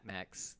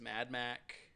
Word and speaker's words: Max: I thought you were going to tell me it was Mad Mac. Nope. Mad Mac. Max.